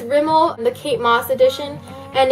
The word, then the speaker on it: Rimmel: a drugstore lipstick it's from Rimmel I always mispronounce that sorry but it's Rimmel the Kate Moss Edition and it's in the